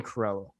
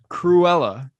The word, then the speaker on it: Cruella: Cruella. Because you really speed it up and just skip the U.